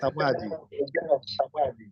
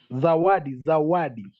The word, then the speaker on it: Zawadi: What do you say the name of his meaning of Sawadi? Zawadi.